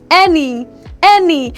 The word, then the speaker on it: any: Example of such words, we have one, any. Now just as my any is pronounced, now let's go together.